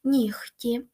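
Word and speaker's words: нігті: оглушуються але є винятки ніхті бачите тут оглушується кіхті легко вогко дьогтю Тобто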